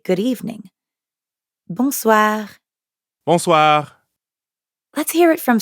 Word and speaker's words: bonsoir: For that, we'd need to say bonsoir. Bonsoir. We already know how to pronounce the first part, bon, because it's the same in bonjour. And the second part is soir. That means evening. Soir. The end sound is kind of like saying ah at the dentist.